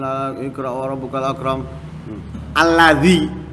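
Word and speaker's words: الذي: Alladzi, bukan allazi, ya.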